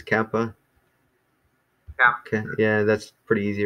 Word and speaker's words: kappa: then Kappa so Kappa so that's where we want to put the emphasis Kappa okay yeah that's pretty